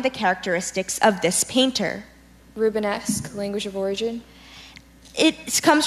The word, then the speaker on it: Rubenesque: e I see h e CH number 35 rubenesque rubenesque may I please have the definition rubenesque means of or relating to or having the characteristics of this painter rubenesque language of origin it comes from a Flemish